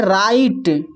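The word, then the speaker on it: write: जब डब्ल्यू के बाद आर रहे तो डब्ल्यू साइलेंट होता है।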